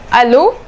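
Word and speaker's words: allô: sentence is hello itself hello in French is aloe there's no h you do not pronounce any H you only say hello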